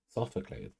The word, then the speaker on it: Sophocles: Why does that sound wrong in my mouth? I am pronouncing it correctly. Sophocles.